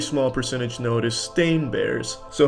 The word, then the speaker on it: Berenstain: They all want to pronounce it Steen, but it's Stain.